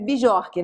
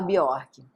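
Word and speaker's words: Björk: Então, Arn Biorque se escreve bijorque, né? Mas se fala Biorque.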